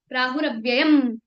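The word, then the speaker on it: प्राहुरव्ययम्: जैसे प्राहुर अव्ययंम बंद रहेगा मुंह। अ के लिए खुलेगा नहीं। प्राहुरव्ययं ठीक है?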